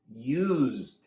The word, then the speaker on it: used: Notice when we have this meaning, we pronounce it "uZd". We stress "used".